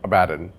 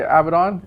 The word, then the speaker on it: Abaddon: Guilliman versus Abaddon, or Abaddon. I think it's North Americans say Abaddon, and Europeans say Abaddon.